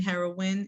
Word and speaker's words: Herawin: Yeah, you can go to at the Queen Herawin. It's spelled HERAWIN, like win.